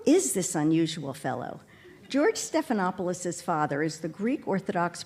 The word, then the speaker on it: Stephanopoulos: Heritage this man who taught us to pronounce all five syllables of his name and did so with pride I've always wondered who is this unusual fellow George stephanopoulos's father is the Greek